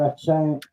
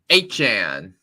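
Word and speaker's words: Achane: I definitely have to sit down to find a chain. I think I keep mispronouncing that name, but Achan. Achan.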